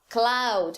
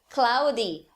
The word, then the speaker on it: cloud: Cloud, nuvem, cloud. O falante brasileiro vai falar cloudy ou cloudy, né?